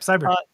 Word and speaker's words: Cybr: Is that how you pronounce it? Cybr? Like, I mean, just the way it looks. Yep, Cybr.